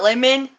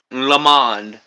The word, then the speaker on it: Lamont: Are you for sure it's Lamont and not Lemon? Lamont.